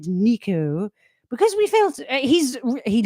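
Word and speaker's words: Neko: Well, a bit like Madame versus Madam. It's spelled the Japanese way and said the Italian way.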